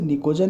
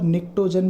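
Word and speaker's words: pnictogen: इसे निकोजन भी बोला जा सकता है और निक्टोजन भी बोला जा सकता है। जनरली यहाँ पर टी साइलेंट होता है, इसीलिए हम इसको निकोजन बोलते हैं।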